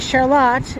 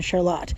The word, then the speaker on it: Charlotte: By the way, that's why the name is pronounced Charlotte. There's a Charlotte Street in Burlington pronounced Charlotte. But Charlotte is pronounced that special way and is named for a woman whose name was pronounced Charlotte.